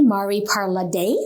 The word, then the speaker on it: Mari Parladè: pronouncing my name correctly mari parla day with an accent over the e we talked a little